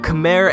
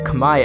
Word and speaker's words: Khmer: the oncoming climate apocalypse the khmer empire or pronounced correctly is the kamae empire was a state of